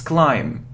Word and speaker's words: climb: So it isn't climb, no, it's climb.